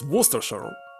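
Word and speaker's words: Worcestershire: sauce similar to Worchester forgot how to pronounce it correctly what oh my God werer it's werer so potato Sal doesn't contain werer inside of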